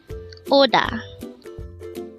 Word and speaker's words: 오다: boys oh and a second syllable is star pronounce it with me Oda the word Oda is a verb which means